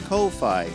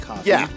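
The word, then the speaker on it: Ko-fi: so I see something- fi it's f it's Kofi not coffee that's like I I've been pronouncing it that way too and and and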